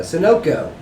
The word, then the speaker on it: Sunoco: oh yeah listen listen Mauer went into a Sunoco store at a gas station you guess I'm